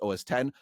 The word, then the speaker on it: OS X: And when the first OS 10 came out, a lot of it was written OS X, but it's pronounced OS 10.